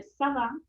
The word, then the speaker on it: ça va: savá savá E aí não tem muitos mistérios com relação a pronunciação é savá se você quiser fazer